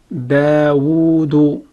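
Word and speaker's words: دَاوُدُ: The third syllable we have is dal dhammadu. Dal is a light letter, it has dhamma on top of it, and it is prolonged for one count. Dal dhammadu, dal dhammadu, dal dhammadu. So when you combine three syllables, we have dawudu.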